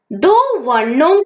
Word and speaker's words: द्वा: आप इसमें देख सकते हैं द्वा को किस प्रकार लिखना है, लेकिन बच्चों उच्चारण करते समय दो वर्णों की आवाज एक साथ ही होनी चाहिए।